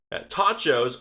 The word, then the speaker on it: Tachos: the name sounds strange tachos obviously rhymes with nachos it's play on that but fry joe's just